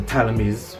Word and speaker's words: Ptolemy: Anyway, today's bill is going to be upon what is it that the Ptolemy'S, well, they say that the P is silent, but most people know them as the Ptolemy'S, but it's the Ptolemy'S.